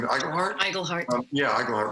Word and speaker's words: Iglehart: Iglehart.